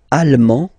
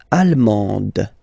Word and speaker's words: allemand: L'Allemagne, allemand, allemande. Okay, same thing here. Okay, you don't pronounce the final D, but then you pronounce it here for the feminine form. Allemande, okay? Allemand, allemande. La Belgique, belge.